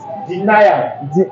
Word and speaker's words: denial: Denial. Denial. What spell it? Let me hear. DENEAL. Not DENIAL. It is pronounced denial.